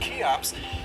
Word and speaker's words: Cheops: Anyway, Cheops, spelled Cheops but pronounced Cheops, is how the ancient Greeks referred to Khufu.